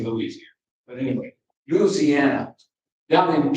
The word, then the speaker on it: Louisiana: Now that's how they say it in Louisiana. They don't say Louisiana, it's Louisiana, at least down where my folks are from.